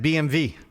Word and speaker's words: BMW: Yeah, I know that hurts your pronounce it BMV when they say, "Oh, I have a BMV."